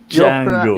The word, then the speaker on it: Django: Django. You're pronouncing it with a Unchained.